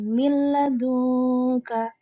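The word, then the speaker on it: مِن لَّدُنكَ: Di sini ada nun sukun bertemu dengan lam, maka membacanya menjadi milladunka. Bukan mil tanpa dengung, tapi milladunka.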